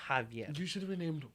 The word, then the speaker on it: Javier: It's not like Javier, and everybody calls me Javier. I hate that. It's Javier.